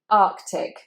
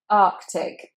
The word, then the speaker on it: Arctic: Now I have to be honest with you, I have said this incorrectly myself. So I've said Arctic instead of Arctic. But actually you need to say both of those C's, so you've got two K sounds.